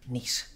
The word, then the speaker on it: Nice: My name's Nice. N-I-C-E. Like the place in France.